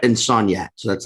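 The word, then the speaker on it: Soniat: was on Ferret and Sognat. So that's like uptown. Yeah. Is that how people say it when they're drunk, or is that the real pronunciation? Yeah, that's how I say it.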